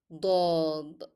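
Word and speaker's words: ضاد: Her sister, dod, dod. It sounds like do, do. You can notice here that my pronunciation differ, though in English the letter sound is the same.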